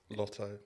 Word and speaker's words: Latto: It's Ice Spice and Latto this time. Did I say it right? Latto. No. Is it Latto? Lotto. Lotto. You say it's Latto. Lotto. Lotto. See, I would say Latto. As in mulatto.